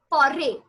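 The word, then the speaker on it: forêt: Now, as over here, you see that foray, again, I just did not pronounce the T. So this rule is applicable for almost everywhere. That last letter in French is always silent.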